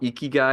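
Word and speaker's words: 生きがい: It's pronounc it's called eeky guy. It's I ki g- ai.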